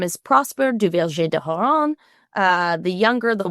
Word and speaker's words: Duverger: Duverger. Duverger.